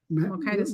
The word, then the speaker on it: Mokitas: remember, Mokitas. rhymes with Titus.